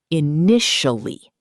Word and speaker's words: initially: This word has 4 syllables, but we say it pretty fast in English. initially. Make sure you put the power on the nish sound.